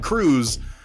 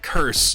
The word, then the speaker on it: Kurz: Yeah, it's Cruz. It might be like a state senator in Texas. But no, this is Kurz. Easy to remember, as Vergaderung noted. It is Curse, but with a Z